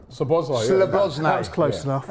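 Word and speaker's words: Szoboszlai: Sabozlai. Sabozlai, Slabozlai.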